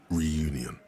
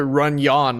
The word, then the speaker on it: Reunion: pronounce it so wrong I knew it was supposed to be pronounced reunion but I still have pronounced it runan like a [ __